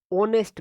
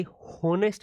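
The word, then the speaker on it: honest: ऑनेस्ट मैन। ये होनेस्ट मैन नहीं है मेरे भाई। ये क्या है? ऑनेस्ट मैन है। एच इसमें साइलेंट रहता है।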